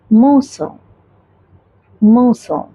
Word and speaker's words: morsel: क्योंकि मैंने आपको बताया अगर लेटर आर है आ, we pronounce this R in British accent. So अगर लेटर आ के बगल में पास में कोई कॉन्सोनेंट साउंड है तो हम उसे अ प्रोनाउंस करेंगे. और यहाँ पर आ के बगल में है एस, इसलिए हम इसे प्रोनाउंस करेंगे मोसो मोसो. किसी खाने का थोड़ा सा टुकड़ा.